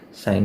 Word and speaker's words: sin: साइन इज the abbreviation of साइन, SIN लिखते हैं उसको, इसको प्रोनाउंस भी हम लोग साइन ही बुक करते हैं।